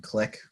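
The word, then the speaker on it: Qlik: um powerbi Tableau and click which I think is spelled Q or qli k um are all really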